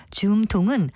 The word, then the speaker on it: 줌통: 줌통은 활의 한가운데 손으로 쥐는 부분을 가리키고요. 그냥 줌이라고도 하고 또 활줌통 역시 같은 뜻입니다. 다만 줌통은 첫 음절을 길게 발음하는 반면에 활줌통은 앞에 활자가 붙어서 줌이 된 소리로 나고요.